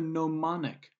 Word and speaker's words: gnomonic: Another projection method is something called the gnomonic projection or azimuthal projection. Notice the silent G in the word gnomonic.